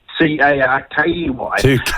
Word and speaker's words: Tukaki: My last name is spelled Tukaki. Yeah. But actually, I've had this dream for a long time to buy some sort of road somewhere and call it Tukaki, but spell it.